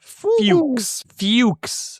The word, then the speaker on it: Fuchs: Fuchs.